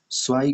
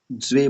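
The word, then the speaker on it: zwei: Common mistake में क्या, स्वाई को ज्वे मत बोलिए, ज्वे, स्वाई सही उच्चारण है, ज्वे नहीं है, ज्वे मतलब डब्लू को हम लोग वी कहते हैं ना, तो इसके लिए ये होता है, ज्वे नहीं है, और जेड को जो जैसा नहीं है, तो ज्वे नहीं है, सही उच्चारण क्या है, स्वाई, ठीक है, ये गलत है।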